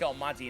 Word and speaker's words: Almonte: So it's Eric Almonte, and Eric spelled with a CK.